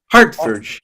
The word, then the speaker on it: Hertfordshire: Hertfordshire.